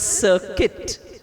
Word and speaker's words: circuit: to pronounce I said it's pronounced as circuit no I always teach